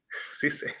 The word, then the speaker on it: CCalle: CCalle. Yeah, they pronounce it with the S.